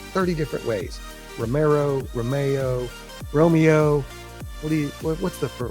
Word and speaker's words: Romeo: Romero, Romeo, Romeo. What do you What's the proper way to say that? It's Alfa Romeo, spelled Romeo, as my wife likes to say, like Romeo and Juliet.